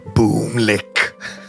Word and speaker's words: Bumlick: Boomlick. Boomlick, which is spelled Bumlick.